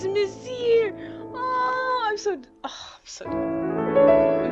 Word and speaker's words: Monsieur: Messiah. Meaning. Let's go with meaning first. Oh, it means sir. What? How do you even pronounce this? Oh, it's Monsieur. Oh, I'm so dumb. Monsieur.